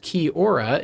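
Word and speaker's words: kia ora: Um, pronounced kiora.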